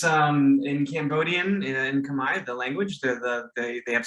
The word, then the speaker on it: Khmer: A lot of people say Khmer, but it's actually Khmer. It's just that the R consonant at the end is silent.